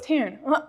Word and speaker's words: Tairn: Well, so since I was doing the audiobook, like obviously everything's pronounced correctly. Right. But Tairn? Okay, is it spelled Tarin? Tairn.